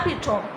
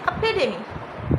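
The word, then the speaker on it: epitome: देखा जो पढ़ते हैं एपिटोम। क्या पढ़ते हैं? एपिटोम। बट प्रोनाउंसिएशन इसकी एपिटोम नहीं है, इसको पढ़ा जाता है एपिडेमी। किस तरह पढ़ेंगे? एपिडेमी। ओके।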